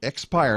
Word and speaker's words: Xpire: a moment ago your expire and by the way it's just spelled with an X not an e x x buyer that that's